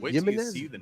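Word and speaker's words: Jiménez: He's the Ryder Cup captain, and Jimenez.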